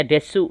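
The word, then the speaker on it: です: Ingat des tulisannya desu tapi dibaca des.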